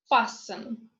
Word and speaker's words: fasten: T is silent in castle, whistle, listen, fasten, Christmas.